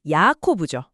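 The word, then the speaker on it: יַעֲקֹב: 야복은 히브리어로 야보크입니다. 그리고 야곱은 야코브죠.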